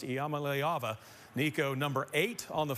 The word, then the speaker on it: Iamaleava: niika and uh the the correct way to pronounce my last name is mala all right you heard it there first let's pronounce Yama leava Nico number eight on